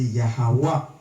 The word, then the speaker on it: Yahweh: Vrai nom papa c'est Yahweh. Yahweh veut dire il existait. OK? Il existait. Now, on entend comment il prononce.